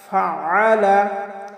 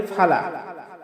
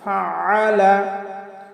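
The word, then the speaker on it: فَعَلَ: আলাম তারা কাইফা ফাআলা, আমরা অনেকে পাঠ করি ফালা, কাইফা ফালা। আসলে ফালা বললে আইনের উচ্চারণটা হয় না, কারণ আইনের উচ্চারণ আমাদের হলকের মধ্যখান থেকে একটু চাপ দিয়ে উচ্চারণ করতে হবে। তাহলে আমরা পাঠ করব ফাআলা ফাআলা আলাম তারা কাইফা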